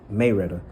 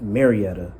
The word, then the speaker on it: Marietta: Well, I said Maretta. I said, "Are y'all from Maretta?" Which that's how the people who are from there. And the older people say it, but Marietta for the people who are not, and that's